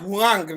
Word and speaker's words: Huang: Is that the one you are referring to? Yes, please. Aisha Huang. Huang. It's not one. Aisha Huang, no. Huang.